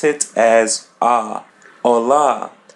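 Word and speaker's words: olá: And there a by the end we pronounce it as a ola. As you see there is an accent or asento as in Portuguese. Just open your mouth and pull the sound of a hola.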